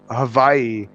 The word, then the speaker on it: Hawaii: Yeah, because a W in Hawaii is unless it's the first letter. If it's the first letter of a word, then it's pronounced as a W. But if it's not the first letter, it's pronounced as a V.